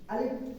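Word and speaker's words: أَلِف: জায়গায় হবে না, হালকায় বাতাস বাইর হবে আর ওটা উচ্চারণ হবে। আলিফ আলিফ আলিফ আলিফ আলিফ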